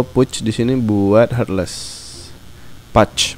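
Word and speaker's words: Pudge: Pouch, bacanya Pouch sih sebenarnya. Kalau orang Indonesia baca putge, ya udahlah, sama aja.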